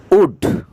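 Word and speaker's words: would: প্রথমে আমরা দেখতে পাচ্ছি উড। আমাকে এখানে এল এর উচ্চারণটা হবে না, উড।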